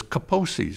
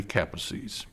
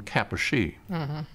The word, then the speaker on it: Kaposi: met I welcomed them but I used the pronunciation that I had learned in medical school which was Kaposi's sarcoma and after welcoming them and thanking them